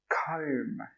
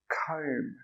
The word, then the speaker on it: comb: The second one is pronounced comb, comb, k-om. The B is silent again.